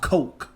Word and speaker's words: Koch: is now called e1 which i think is pronounced coke but i don't know but koch we call it koch we've been calling it koch koch records used to